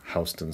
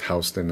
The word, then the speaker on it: Houston: And people get confused sometimes because it's pronounced Houston instead of Houston. That's because it's named for someone who, it was named for someone who's Dutch whose name was Houston.